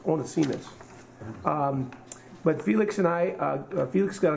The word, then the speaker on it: Onesimus: And it, anyway, I've been mispronouncing it. It's Onesimus.